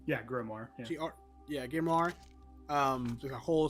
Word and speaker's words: grimoire: There's the how do you pronounce this? Grimoire. Yeah, Grimoire.